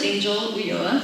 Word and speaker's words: Angel Ulloa: Hello, hi, my name is Angel Ulloa, which is the proper pronunciation.